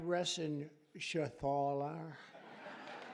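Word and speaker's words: Reschenthaler: John David Joyce David thank you and Guy Ren Shaler you know that rener he's uh that's actually the way you pronounce said you know nobody else gets it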